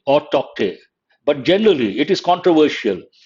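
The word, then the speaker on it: Tauktae: Cyclone Tokte. It could be Tote or Tokte, but generally it is controversial. People are not pronouncing the letter K.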